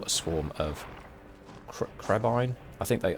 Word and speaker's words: crebain: So, murder of crows, call a swarm of cr- crebain. I think they I think they pronounce it crebain, don't they, in in the in the movies, at least.